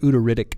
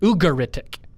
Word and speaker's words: Ugaritic: up from 2000 DC yeah what's the word udic mean ugaritic I see I even mispronounced it what does it mean it's a